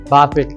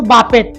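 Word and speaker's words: buffet: এটা অনেক মজার বিষয়, তোমরা বলছো বাফেট, এটা কিন্তু শুদ্ধ উচ্চারণ হচ্ছে বুফে। দেখতে মনে হচ্ছে যেন বাফেট, কিন্তু এটা হবে বুফে। বেটির উচ্চারণ হবেই না, মনে করবে যে টি নাই, তাহলে এটা হচ্ছে বুফে।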